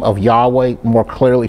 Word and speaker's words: Yahweh: world thus behold the hand behold the nail yahweh is the most commonly accepted pronunciation but there's another another more another i'd say a second one that's just as common it's called yahuwah um but again there's there are others there